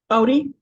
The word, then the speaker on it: Ote: but Katie and your last name is is pronounced oot Odie Odie okay Odie okay thank you for being guest and welcome